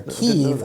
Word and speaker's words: Kyiv: And he said, Kiev is the Russian pronunciation, Kyiv is the Ukrainian pronunciation.